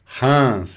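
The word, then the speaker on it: Reims: E hans, Hans é a cidade de Hans. Aqui eu pronuncio s nome próprio.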